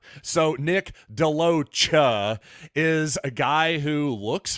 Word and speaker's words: DeLoach: by the way and I do believe that's the pronunciation we're not going to go with any more French style sha pronunciation now we're going to go with the cha so Nick deoa is a guy who